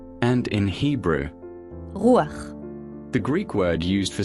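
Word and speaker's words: רוּחַ: This is how this word is pronounced in Greek, pneuma, and in Hebrew, rûaḥ.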